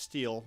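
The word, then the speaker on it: STIHL: One example is the STI-HL, pronounced steel, not still, no relation to me, BR500, which features a low-emission engine and a muffler blower tube that only produces 65 decibels.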